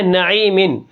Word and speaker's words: نعیمن: ہے۔ آگے کیا ہے نعیمن۔ اب نعیمن کے ہجے کس طرح ہوں گے، اب یہاں پر دیکھیں نون زبر نا، عین یا زیر عی، نعی، میم 2 زیر من، نعیمن، وقفاً، نعیم۔ یا کو کھینچ کر